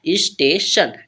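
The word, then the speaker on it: station: हम पढ़ते हैं स्टेशन जब हमारा टी आई ओ एन किसी भी वर्ड में लास्ट मिल जाता तो उसे हम सन पढ़ते हैं ठीक है क्या पढ़ते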